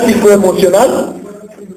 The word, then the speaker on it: psicoemocional: Bueno, no se pronuncia la P, ¿verdad?